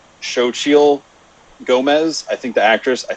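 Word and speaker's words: Xochitl Gomez: liked uh i believe i believe you pronounce it shochil gomez i think the actress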